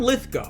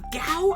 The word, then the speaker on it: Lithgow: So John Lithgow, apparently it's John Lithgow, not Gow. I've been saying it wrong this whole time.